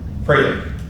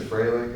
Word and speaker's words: Froehlich: Froehlich. Yeah. Old German pronunciation, right? There you go. Well, started there. We said Froehlich, and then it got, changed from there.